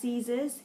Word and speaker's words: seizes: That's pronounced seizes. E-I is just a E sound here.